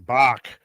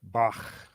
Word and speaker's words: Bach: And then then only later did I learn Beethahoven, Mozart and Bach. But no, actually it was years before I went from Bach to Bach.